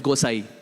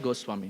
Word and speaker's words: Gosai: So the Goswami that we say in Vrindavan, in Bangla it becomes Gosai. Same thing. Gosai, Goswami. You can choose how you want to pronounce it.